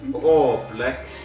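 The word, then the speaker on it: oobleck: It's oblek. Yeah. Oblek. Oblek. Yeah. We have decided that you pronounce this like oblek. Oblek.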